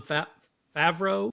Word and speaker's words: Favreau: How would you assess John Favreau? Is that how you pronounce him?